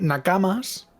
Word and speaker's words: nakama: Entonces vale, sí, Nakamas, pero el tema es que sería es incorrecto porque lo dicho en japonés no se dice nakamas, es nakama siempre, tanto en singular como en plural.